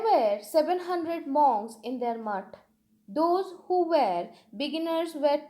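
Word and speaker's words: math: There were 700 monks in their mott. Okay, in Bengali pronunciation it is mott, and I suppose it will be pronounced like mutt. So let's repeat this sentence. There were 700 monks in their mutt.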